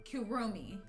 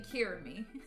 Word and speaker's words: Kirumi: wrong this whole time kiromi i've been saying kirami kurumi oh my lord